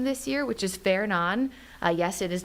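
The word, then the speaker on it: Fernand: So sometimes you'll see a name that maybe is not pronounced the same way in the United States.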